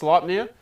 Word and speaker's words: Sleipnir: i guess he's talking about mine uh it's pronounced sleipnir and it is odin's steed um it's norse